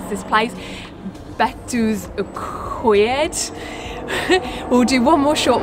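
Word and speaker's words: Betws-y-Coed: and again I'm trying to remember how you pronounce this place, Betws Y Coed.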